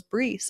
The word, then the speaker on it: Brees: I'm like, Bryce Brees, because when you read the name online, you don't really know how to say it. So I found out it was Brees.